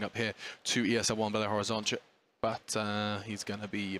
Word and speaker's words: Belo Horizonte: In my brain, ONTE does not get pronounced ch. I didn't find out that was a ch sound until about 5 minutes before we went live.